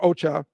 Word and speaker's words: OCHA: of humanitarian Affairs OC I will call pronounce it Ocha says as of early